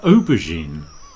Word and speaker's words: aubergine: This is an aubergine. An aubergine. Yes, we use a French word, aubergine, with a j in the middle.